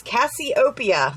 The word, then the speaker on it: Cassiopeia: She also has glitters in this collection, and we used the Cassiopeia, and she told me how to pronounce that. So that is Cassiopeia.